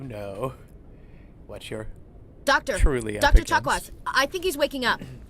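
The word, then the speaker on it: Chakwas: Chwaz. Is that how you say your name? Chakawaz with an S. For some reason in my head I always pronounce it chaka with a with no.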